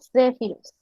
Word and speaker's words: Zephyrus: Su sonido, como podemos ver aquí, normalmente se describe como DS, Zephyrus. Pronunciación Zephyrus.